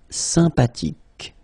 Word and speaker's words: sympathique: Remember the H is not pronounced. Sympathique.